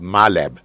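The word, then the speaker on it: MILAB: but there's something called myab there's a military abductions how how to spell it my lab m i l a b military abduction oh my lab okay my lab okay just like a laboratory right no what it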